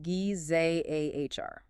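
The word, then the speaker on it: גזר: And the ultimate irony of that list is found in the Aramaic root word gizar, pronounced gizahr.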